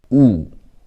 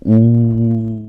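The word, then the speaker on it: ㅜ: We added the stick downward. In the stand-up comedy, what do people do when they don't like a comedy? They put the thumb down and go ooh. So that's how you pronounce it, and that's what it looks like.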